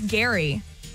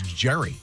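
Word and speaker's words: Gerry: uh G wait oldie I think it's Gary I think but they spell it g e r r y Gary oh that's Jerry um no okay um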